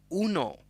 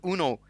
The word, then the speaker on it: Uno: It's an Italian synth. It's called Uno. That's what it's called. The lead designer of the Uno synth, he told me to stop saying Uno synth. It's called Uno. Stop butchering my name.